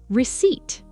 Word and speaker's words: receipt: Many learners waste energy trying to pronounce the P. You don't need it.